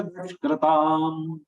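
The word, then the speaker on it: duṣkṛtāṃ: Vināṣāya ca duṣkrtāṃ. Vināṣāya ca duṣkrtāṃ. Duṣkrtāṃ. Du is having aghat.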